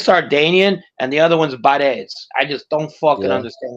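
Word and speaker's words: Barese: If you're from Catania, you're Catanese. My grandmother was from Bari, so she's Barres. Oh wow, you're Barres, yeah.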